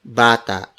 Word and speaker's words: bata: The vowels are pronounced very openly. For instance, for A, it is pronounced as A, A, A. An example is bata, bata, bata.